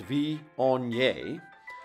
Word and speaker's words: Viognier: pronounced VI onye is one of the most unique and beloved